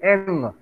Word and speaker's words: English: Yes, ng, only ng, eng. এনজি। So the জি স্যার। correct pronunciation is English, English, English, ইংলিশ। eng. এটা English বলে দিলে তো হবে না. English. It should sound like this, okay? Eng.